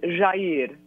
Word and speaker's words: Jair: His first name is Jair. It's very soft. A lot of Brazilian names are soft, like Jair Bolsonaro.